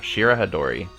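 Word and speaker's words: Shirahadori: Yeah, I was pronouncing it wrong. Shira Hadori.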